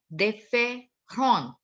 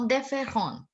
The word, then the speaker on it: différentes: Ma'am, how do we pronounce it different? Différentes. Différentes. Différentes.